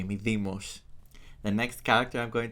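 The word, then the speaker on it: Mydeimos: Let's say it the Greek way. Medimos.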